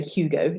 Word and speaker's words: Hugo: silent h for example the name hugo so we would say hugo in english and but in french it's hugo so as with the